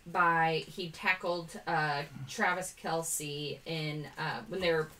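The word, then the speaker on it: Kelce: said travis kelsey said his name's actually pronounced travis kels and that he just goes with it dhw's pete alonso justin berlander future hall of famer insert so they asked his mom and his mom said kelsey so i don't know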